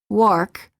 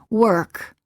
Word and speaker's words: work: The sound remains Non-native speakers are frequently tempted to pronounce the vowels as they're spelled, and they make the common mistake of saying wark instead of work, or turn instead of turn, and sometimes even beard instead of bird.